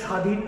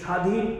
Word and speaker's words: স্বাধীন: অর্থাৎ যেমন স্বাধীন শব্দটা আমরা উচ্চারণ করছি, তো স্বাধীন কিংবা স্বপ্ন, এই প্রথম শব্দে আমরা খেয়াল করলাম যে এখানে শ্বাস রয়েছে, তো আমরা প্রথমেই শ্বাসাঘাত দিচ্ছি। অর্থাৎ যে ব্যঞ্জনের সাথে যুক্ত হচ্ছে আমাদের ব ফলা, সেই ব্যঞ্জনে আমরা একটি ঝোঁক দিচ্ছি।